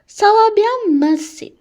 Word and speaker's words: merci: ça va bien merci.